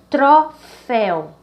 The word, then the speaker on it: troféu: Então, a última sílaba, pó, ela é a mais forte.